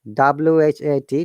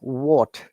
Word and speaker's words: what: Guys, once again, remember that in what, W-H-A-T, W is silent. It should sound like what, not what.